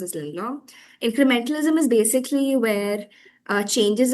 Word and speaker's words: Lindblom: Yeah, there's this thing called incrementalism by, if I'm not wrong, his name is pronounced as Lindblom. The theorist's name is pronounced as Lindblom.